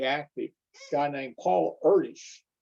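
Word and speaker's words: Erdős: a guy named paul erdesh he was hungarian so that's why his name is pronounced a little differently you might expect in the very next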